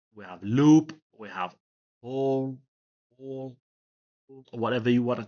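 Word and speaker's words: whorl: We have whole or whatever you want to call it. Some people don't pronounce the H.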